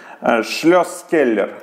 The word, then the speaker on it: Shlosskeller: Как оно правильно читается? Шлёсскеллер.